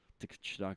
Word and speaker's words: Tkachuk: It's Tkachuk.